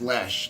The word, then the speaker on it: Loesch: name, Loesch, and it's pronounced Loesch, like Phil Loesch, for all you deadheads out there.